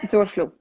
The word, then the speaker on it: Zurfluh: So, ladies and gentlemen, Allison Zurfluh. Am I pronouncing it right? Yeah, Zurfluh.